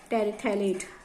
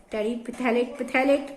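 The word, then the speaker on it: terephthalate: इट is polyethylene टेरिथैलेट, PHTHALATE, टेरिथैलेट क्या है, PH silent है यहाँ पे, पॉलीथाइलिन टेरिथैलेट बोलते हैं इसको।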